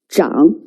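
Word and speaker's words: 长: middle to sides okay the last character also has two pronunciations zhang or chang it's usually referred to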